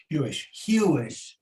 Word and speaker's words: Huish: I'd love for you to, what is Craig, am I pronouncing it? Is it Huish? Huish.